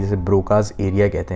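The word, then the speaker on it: Broca: Then you have Paul ब्रोका या ब्रोसा, वो however you want to pronounce it, I pronounce it ब्रोका।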